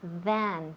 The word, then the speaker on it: than: Pero we want than. TH. Than. Siempre digo lo mismo. And you make it very long. No? Than. Sí. Than. Exacto. Than. Muy bien. So practice more than at home. Y también la pronunciación, of course. Than, con TH.